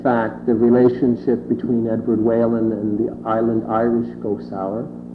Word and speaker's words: Whelan: By the way, I'm going to pronounce his name Edward Whalen because all of the Whalens and PEI that I know from New Zealand and whatnot are Whalens.